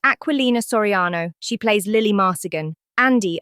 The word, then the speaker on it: Aquilina Soriano: So then next in line comes Lily Marcigan, and she is played by the actress Aquilina Soriano. Lisa. I know. It's pronounced Aquilina Soriano.